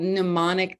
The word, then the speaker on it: mnemonic: a cool phrase called mnemonic device. Does that ring a bell for anybody? It's spelled really weird. It's a silent M-N-E-M-O-N-I-C, mnemonic.